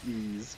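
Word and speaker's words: EDF: already aware that was supposed to be pronounced ease but I mean I didn't think it was wise or i-iv I'm not sure if I entirely knew how to say it but it ease was definitely not my first instinct on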